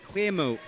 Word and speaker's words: Guemo: Apparently I'm pronouncing Guemo wrong. Sorry. Guemo. There we go. Hope that's better.